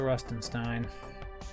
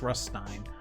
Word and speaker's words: Ruststein: Oh, he's got the Rustenstein. Does he have the second Rustenstein? Ruststein. I always put an extra syllable there. It's just Ruststein.